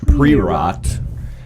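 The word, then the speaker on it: Priorat: black slate and it's from a region called pre-rot it's spelled p-r-o no p-r-i-o-r-a-t um and they are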